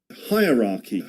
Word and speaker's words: hierarchy: The thing is that the the word hierarchy can be divided into three parts which rhyme with these words. Hire as when we say hi for example, right?